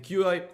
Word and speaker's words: Qi: apps on it now the QI or qi as it's supposed to be pronounced blockchain is positioned for